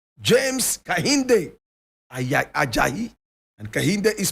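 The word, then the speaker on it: Kehinde: James Kahinde Ajayi. And Kahinde is spelled K-E-H-I-N-D-E.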